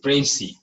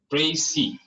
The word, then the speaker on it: précis: तो इट इज précis, précis, last are जो है कि साइलेंट।